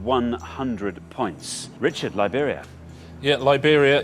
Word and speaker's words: Liberia: points richard liberia yeah liberia it rhymes with siberia and it's also a